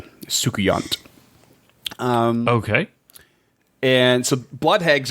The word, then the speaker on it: Soucouyant: That's the best pronunciation I can give you. It's Soucouyant, Soukuyant.